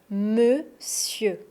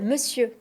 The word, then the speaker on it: monsieur: Monsieur Monsieur pas s monsieur en fait c'est le même son e dans les deux syllabes monsieur et on ne prononce pas le r.